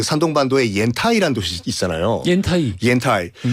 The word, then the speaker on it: 옌타이: 그 이왕 지명 얘기 나온 김에 한 가지 말씀드리면은 그 산동반도에 옌타이라는 도시 있잖아요. 옌타이. 옌타이의 한자를 보면 그걸 연태라고 읽으면 안 돼요.